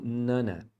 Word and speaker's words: none of: of your Business então aqui é comum eles emendar o Nan com o of Então você ouve muito eles pronunciando como Nana É como se você